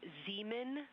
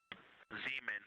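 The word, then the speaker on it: Zeman: We believe that that is Zemen Crater. Zemen. Okay. And can you say the first letter? I may be pronouncing that wrong.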